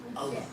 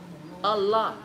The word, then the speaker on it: aloha: Okay, so let's take the word aloha. Where's the accent? Allah. Allah. All right. So if you didn't think that was okay, so the rule is it's the second to last syllable.